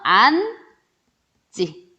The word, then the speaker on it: 앉지: 자, 앞이 니은 지읒으로 끝났고요. 뒤에가 지읒으로 시작됐어요. 자, 그러면 앉지 요렇게 발음이 되는 거죠.